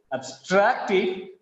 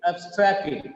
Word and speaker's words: abstracted: Just because of the stress on abstracted, the first syllable ab becomes weak. Look at here. It becomes abstracted.